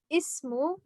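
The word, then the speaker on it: اسم: When it's in the beginning, we're going to pronounce it as ismu, ismu, okay, with the sound here.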